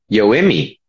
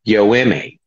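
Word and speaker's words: Yoeme: You have to pronounce it correctly. It's Yoemi.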